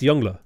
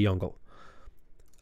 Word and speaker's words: Yongle: a question it's it is it is just younger it's it's younger which is the correct way to pronounce it but it's funny to say jungle um it's funny to me at least all